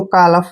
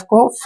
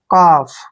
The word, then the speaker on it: calf: L, F से पहले जब भी L आता है L को साइलेंट रखना है। F से पहले जब भी L आए वहां पे L को साइलेंट रखे। F को फ पढ़ेंगे ऐसे, काफ।